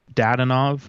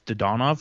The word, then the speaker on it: Dadonov: whichever way your pendulum swings how do you pronounce it homeboy i've always said dadanov but you know he goes to vegas and apparently it's to donov so it's to donov because we both know